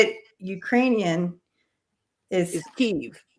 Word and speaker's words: Kyiv: The Ukrainians want you to say it correctly because when they became their own thing, they changed the spelling and the way to say it. You're saying it in the Russian way.